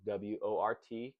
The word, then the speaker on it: wort: It's called wort, spelled W-O-R-T, kind of like wart, but it's pronounced wort.